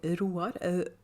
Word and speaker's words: Roar: And if you think that sounds strange that I say Roar, Roar is a Norwegian man's name, and it's spelled the same way as roar in English.